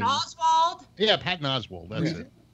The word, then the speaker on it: Oswalt: No, it was Patton Oswalt. Oswald, it's Oswalt.